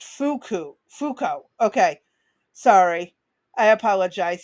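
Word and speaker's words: Foucault: B pronoun Oh, pronounced Fuku.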